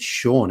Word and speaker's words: Sean: and i was like how do you get shawn out of that i was like steam that's